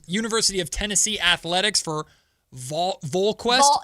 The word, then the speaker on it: VolQuest: And we got Mike Wilson, who covers University of Tennessee athletics for VolQuest. It's a Vol. Think of like Hall Volunteers. Vol. VolQuest. Yep. I got to make sure I pronounce that right when he comes on the show.